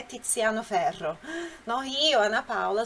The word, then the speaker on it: Tiziano: O Z tem som explosivo. Então, o nome dele, veja só como se escreve aqui. O nome dele se escreve assim, com Z. Tiziano, Tiziano. Então, tem esse som, né? Tiziano. Repete aí, Tiziano. Tá? Não é Tiziano, Tiziano, não, é Tiziano, Tiziano, essa é a pronúncia.